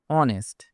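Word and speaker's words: honest: অনেস্ট। এখানে H silent থাকবে।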